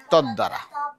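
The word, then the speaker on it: তদ্দ্বারা: না, পদ্মা তো, পদ্মা কি দয় দ, এখানে বয়ের উচ্চারণটা থাকবে না, তদ দ্বারা বয়ের উচ্চারণ থাকবে না।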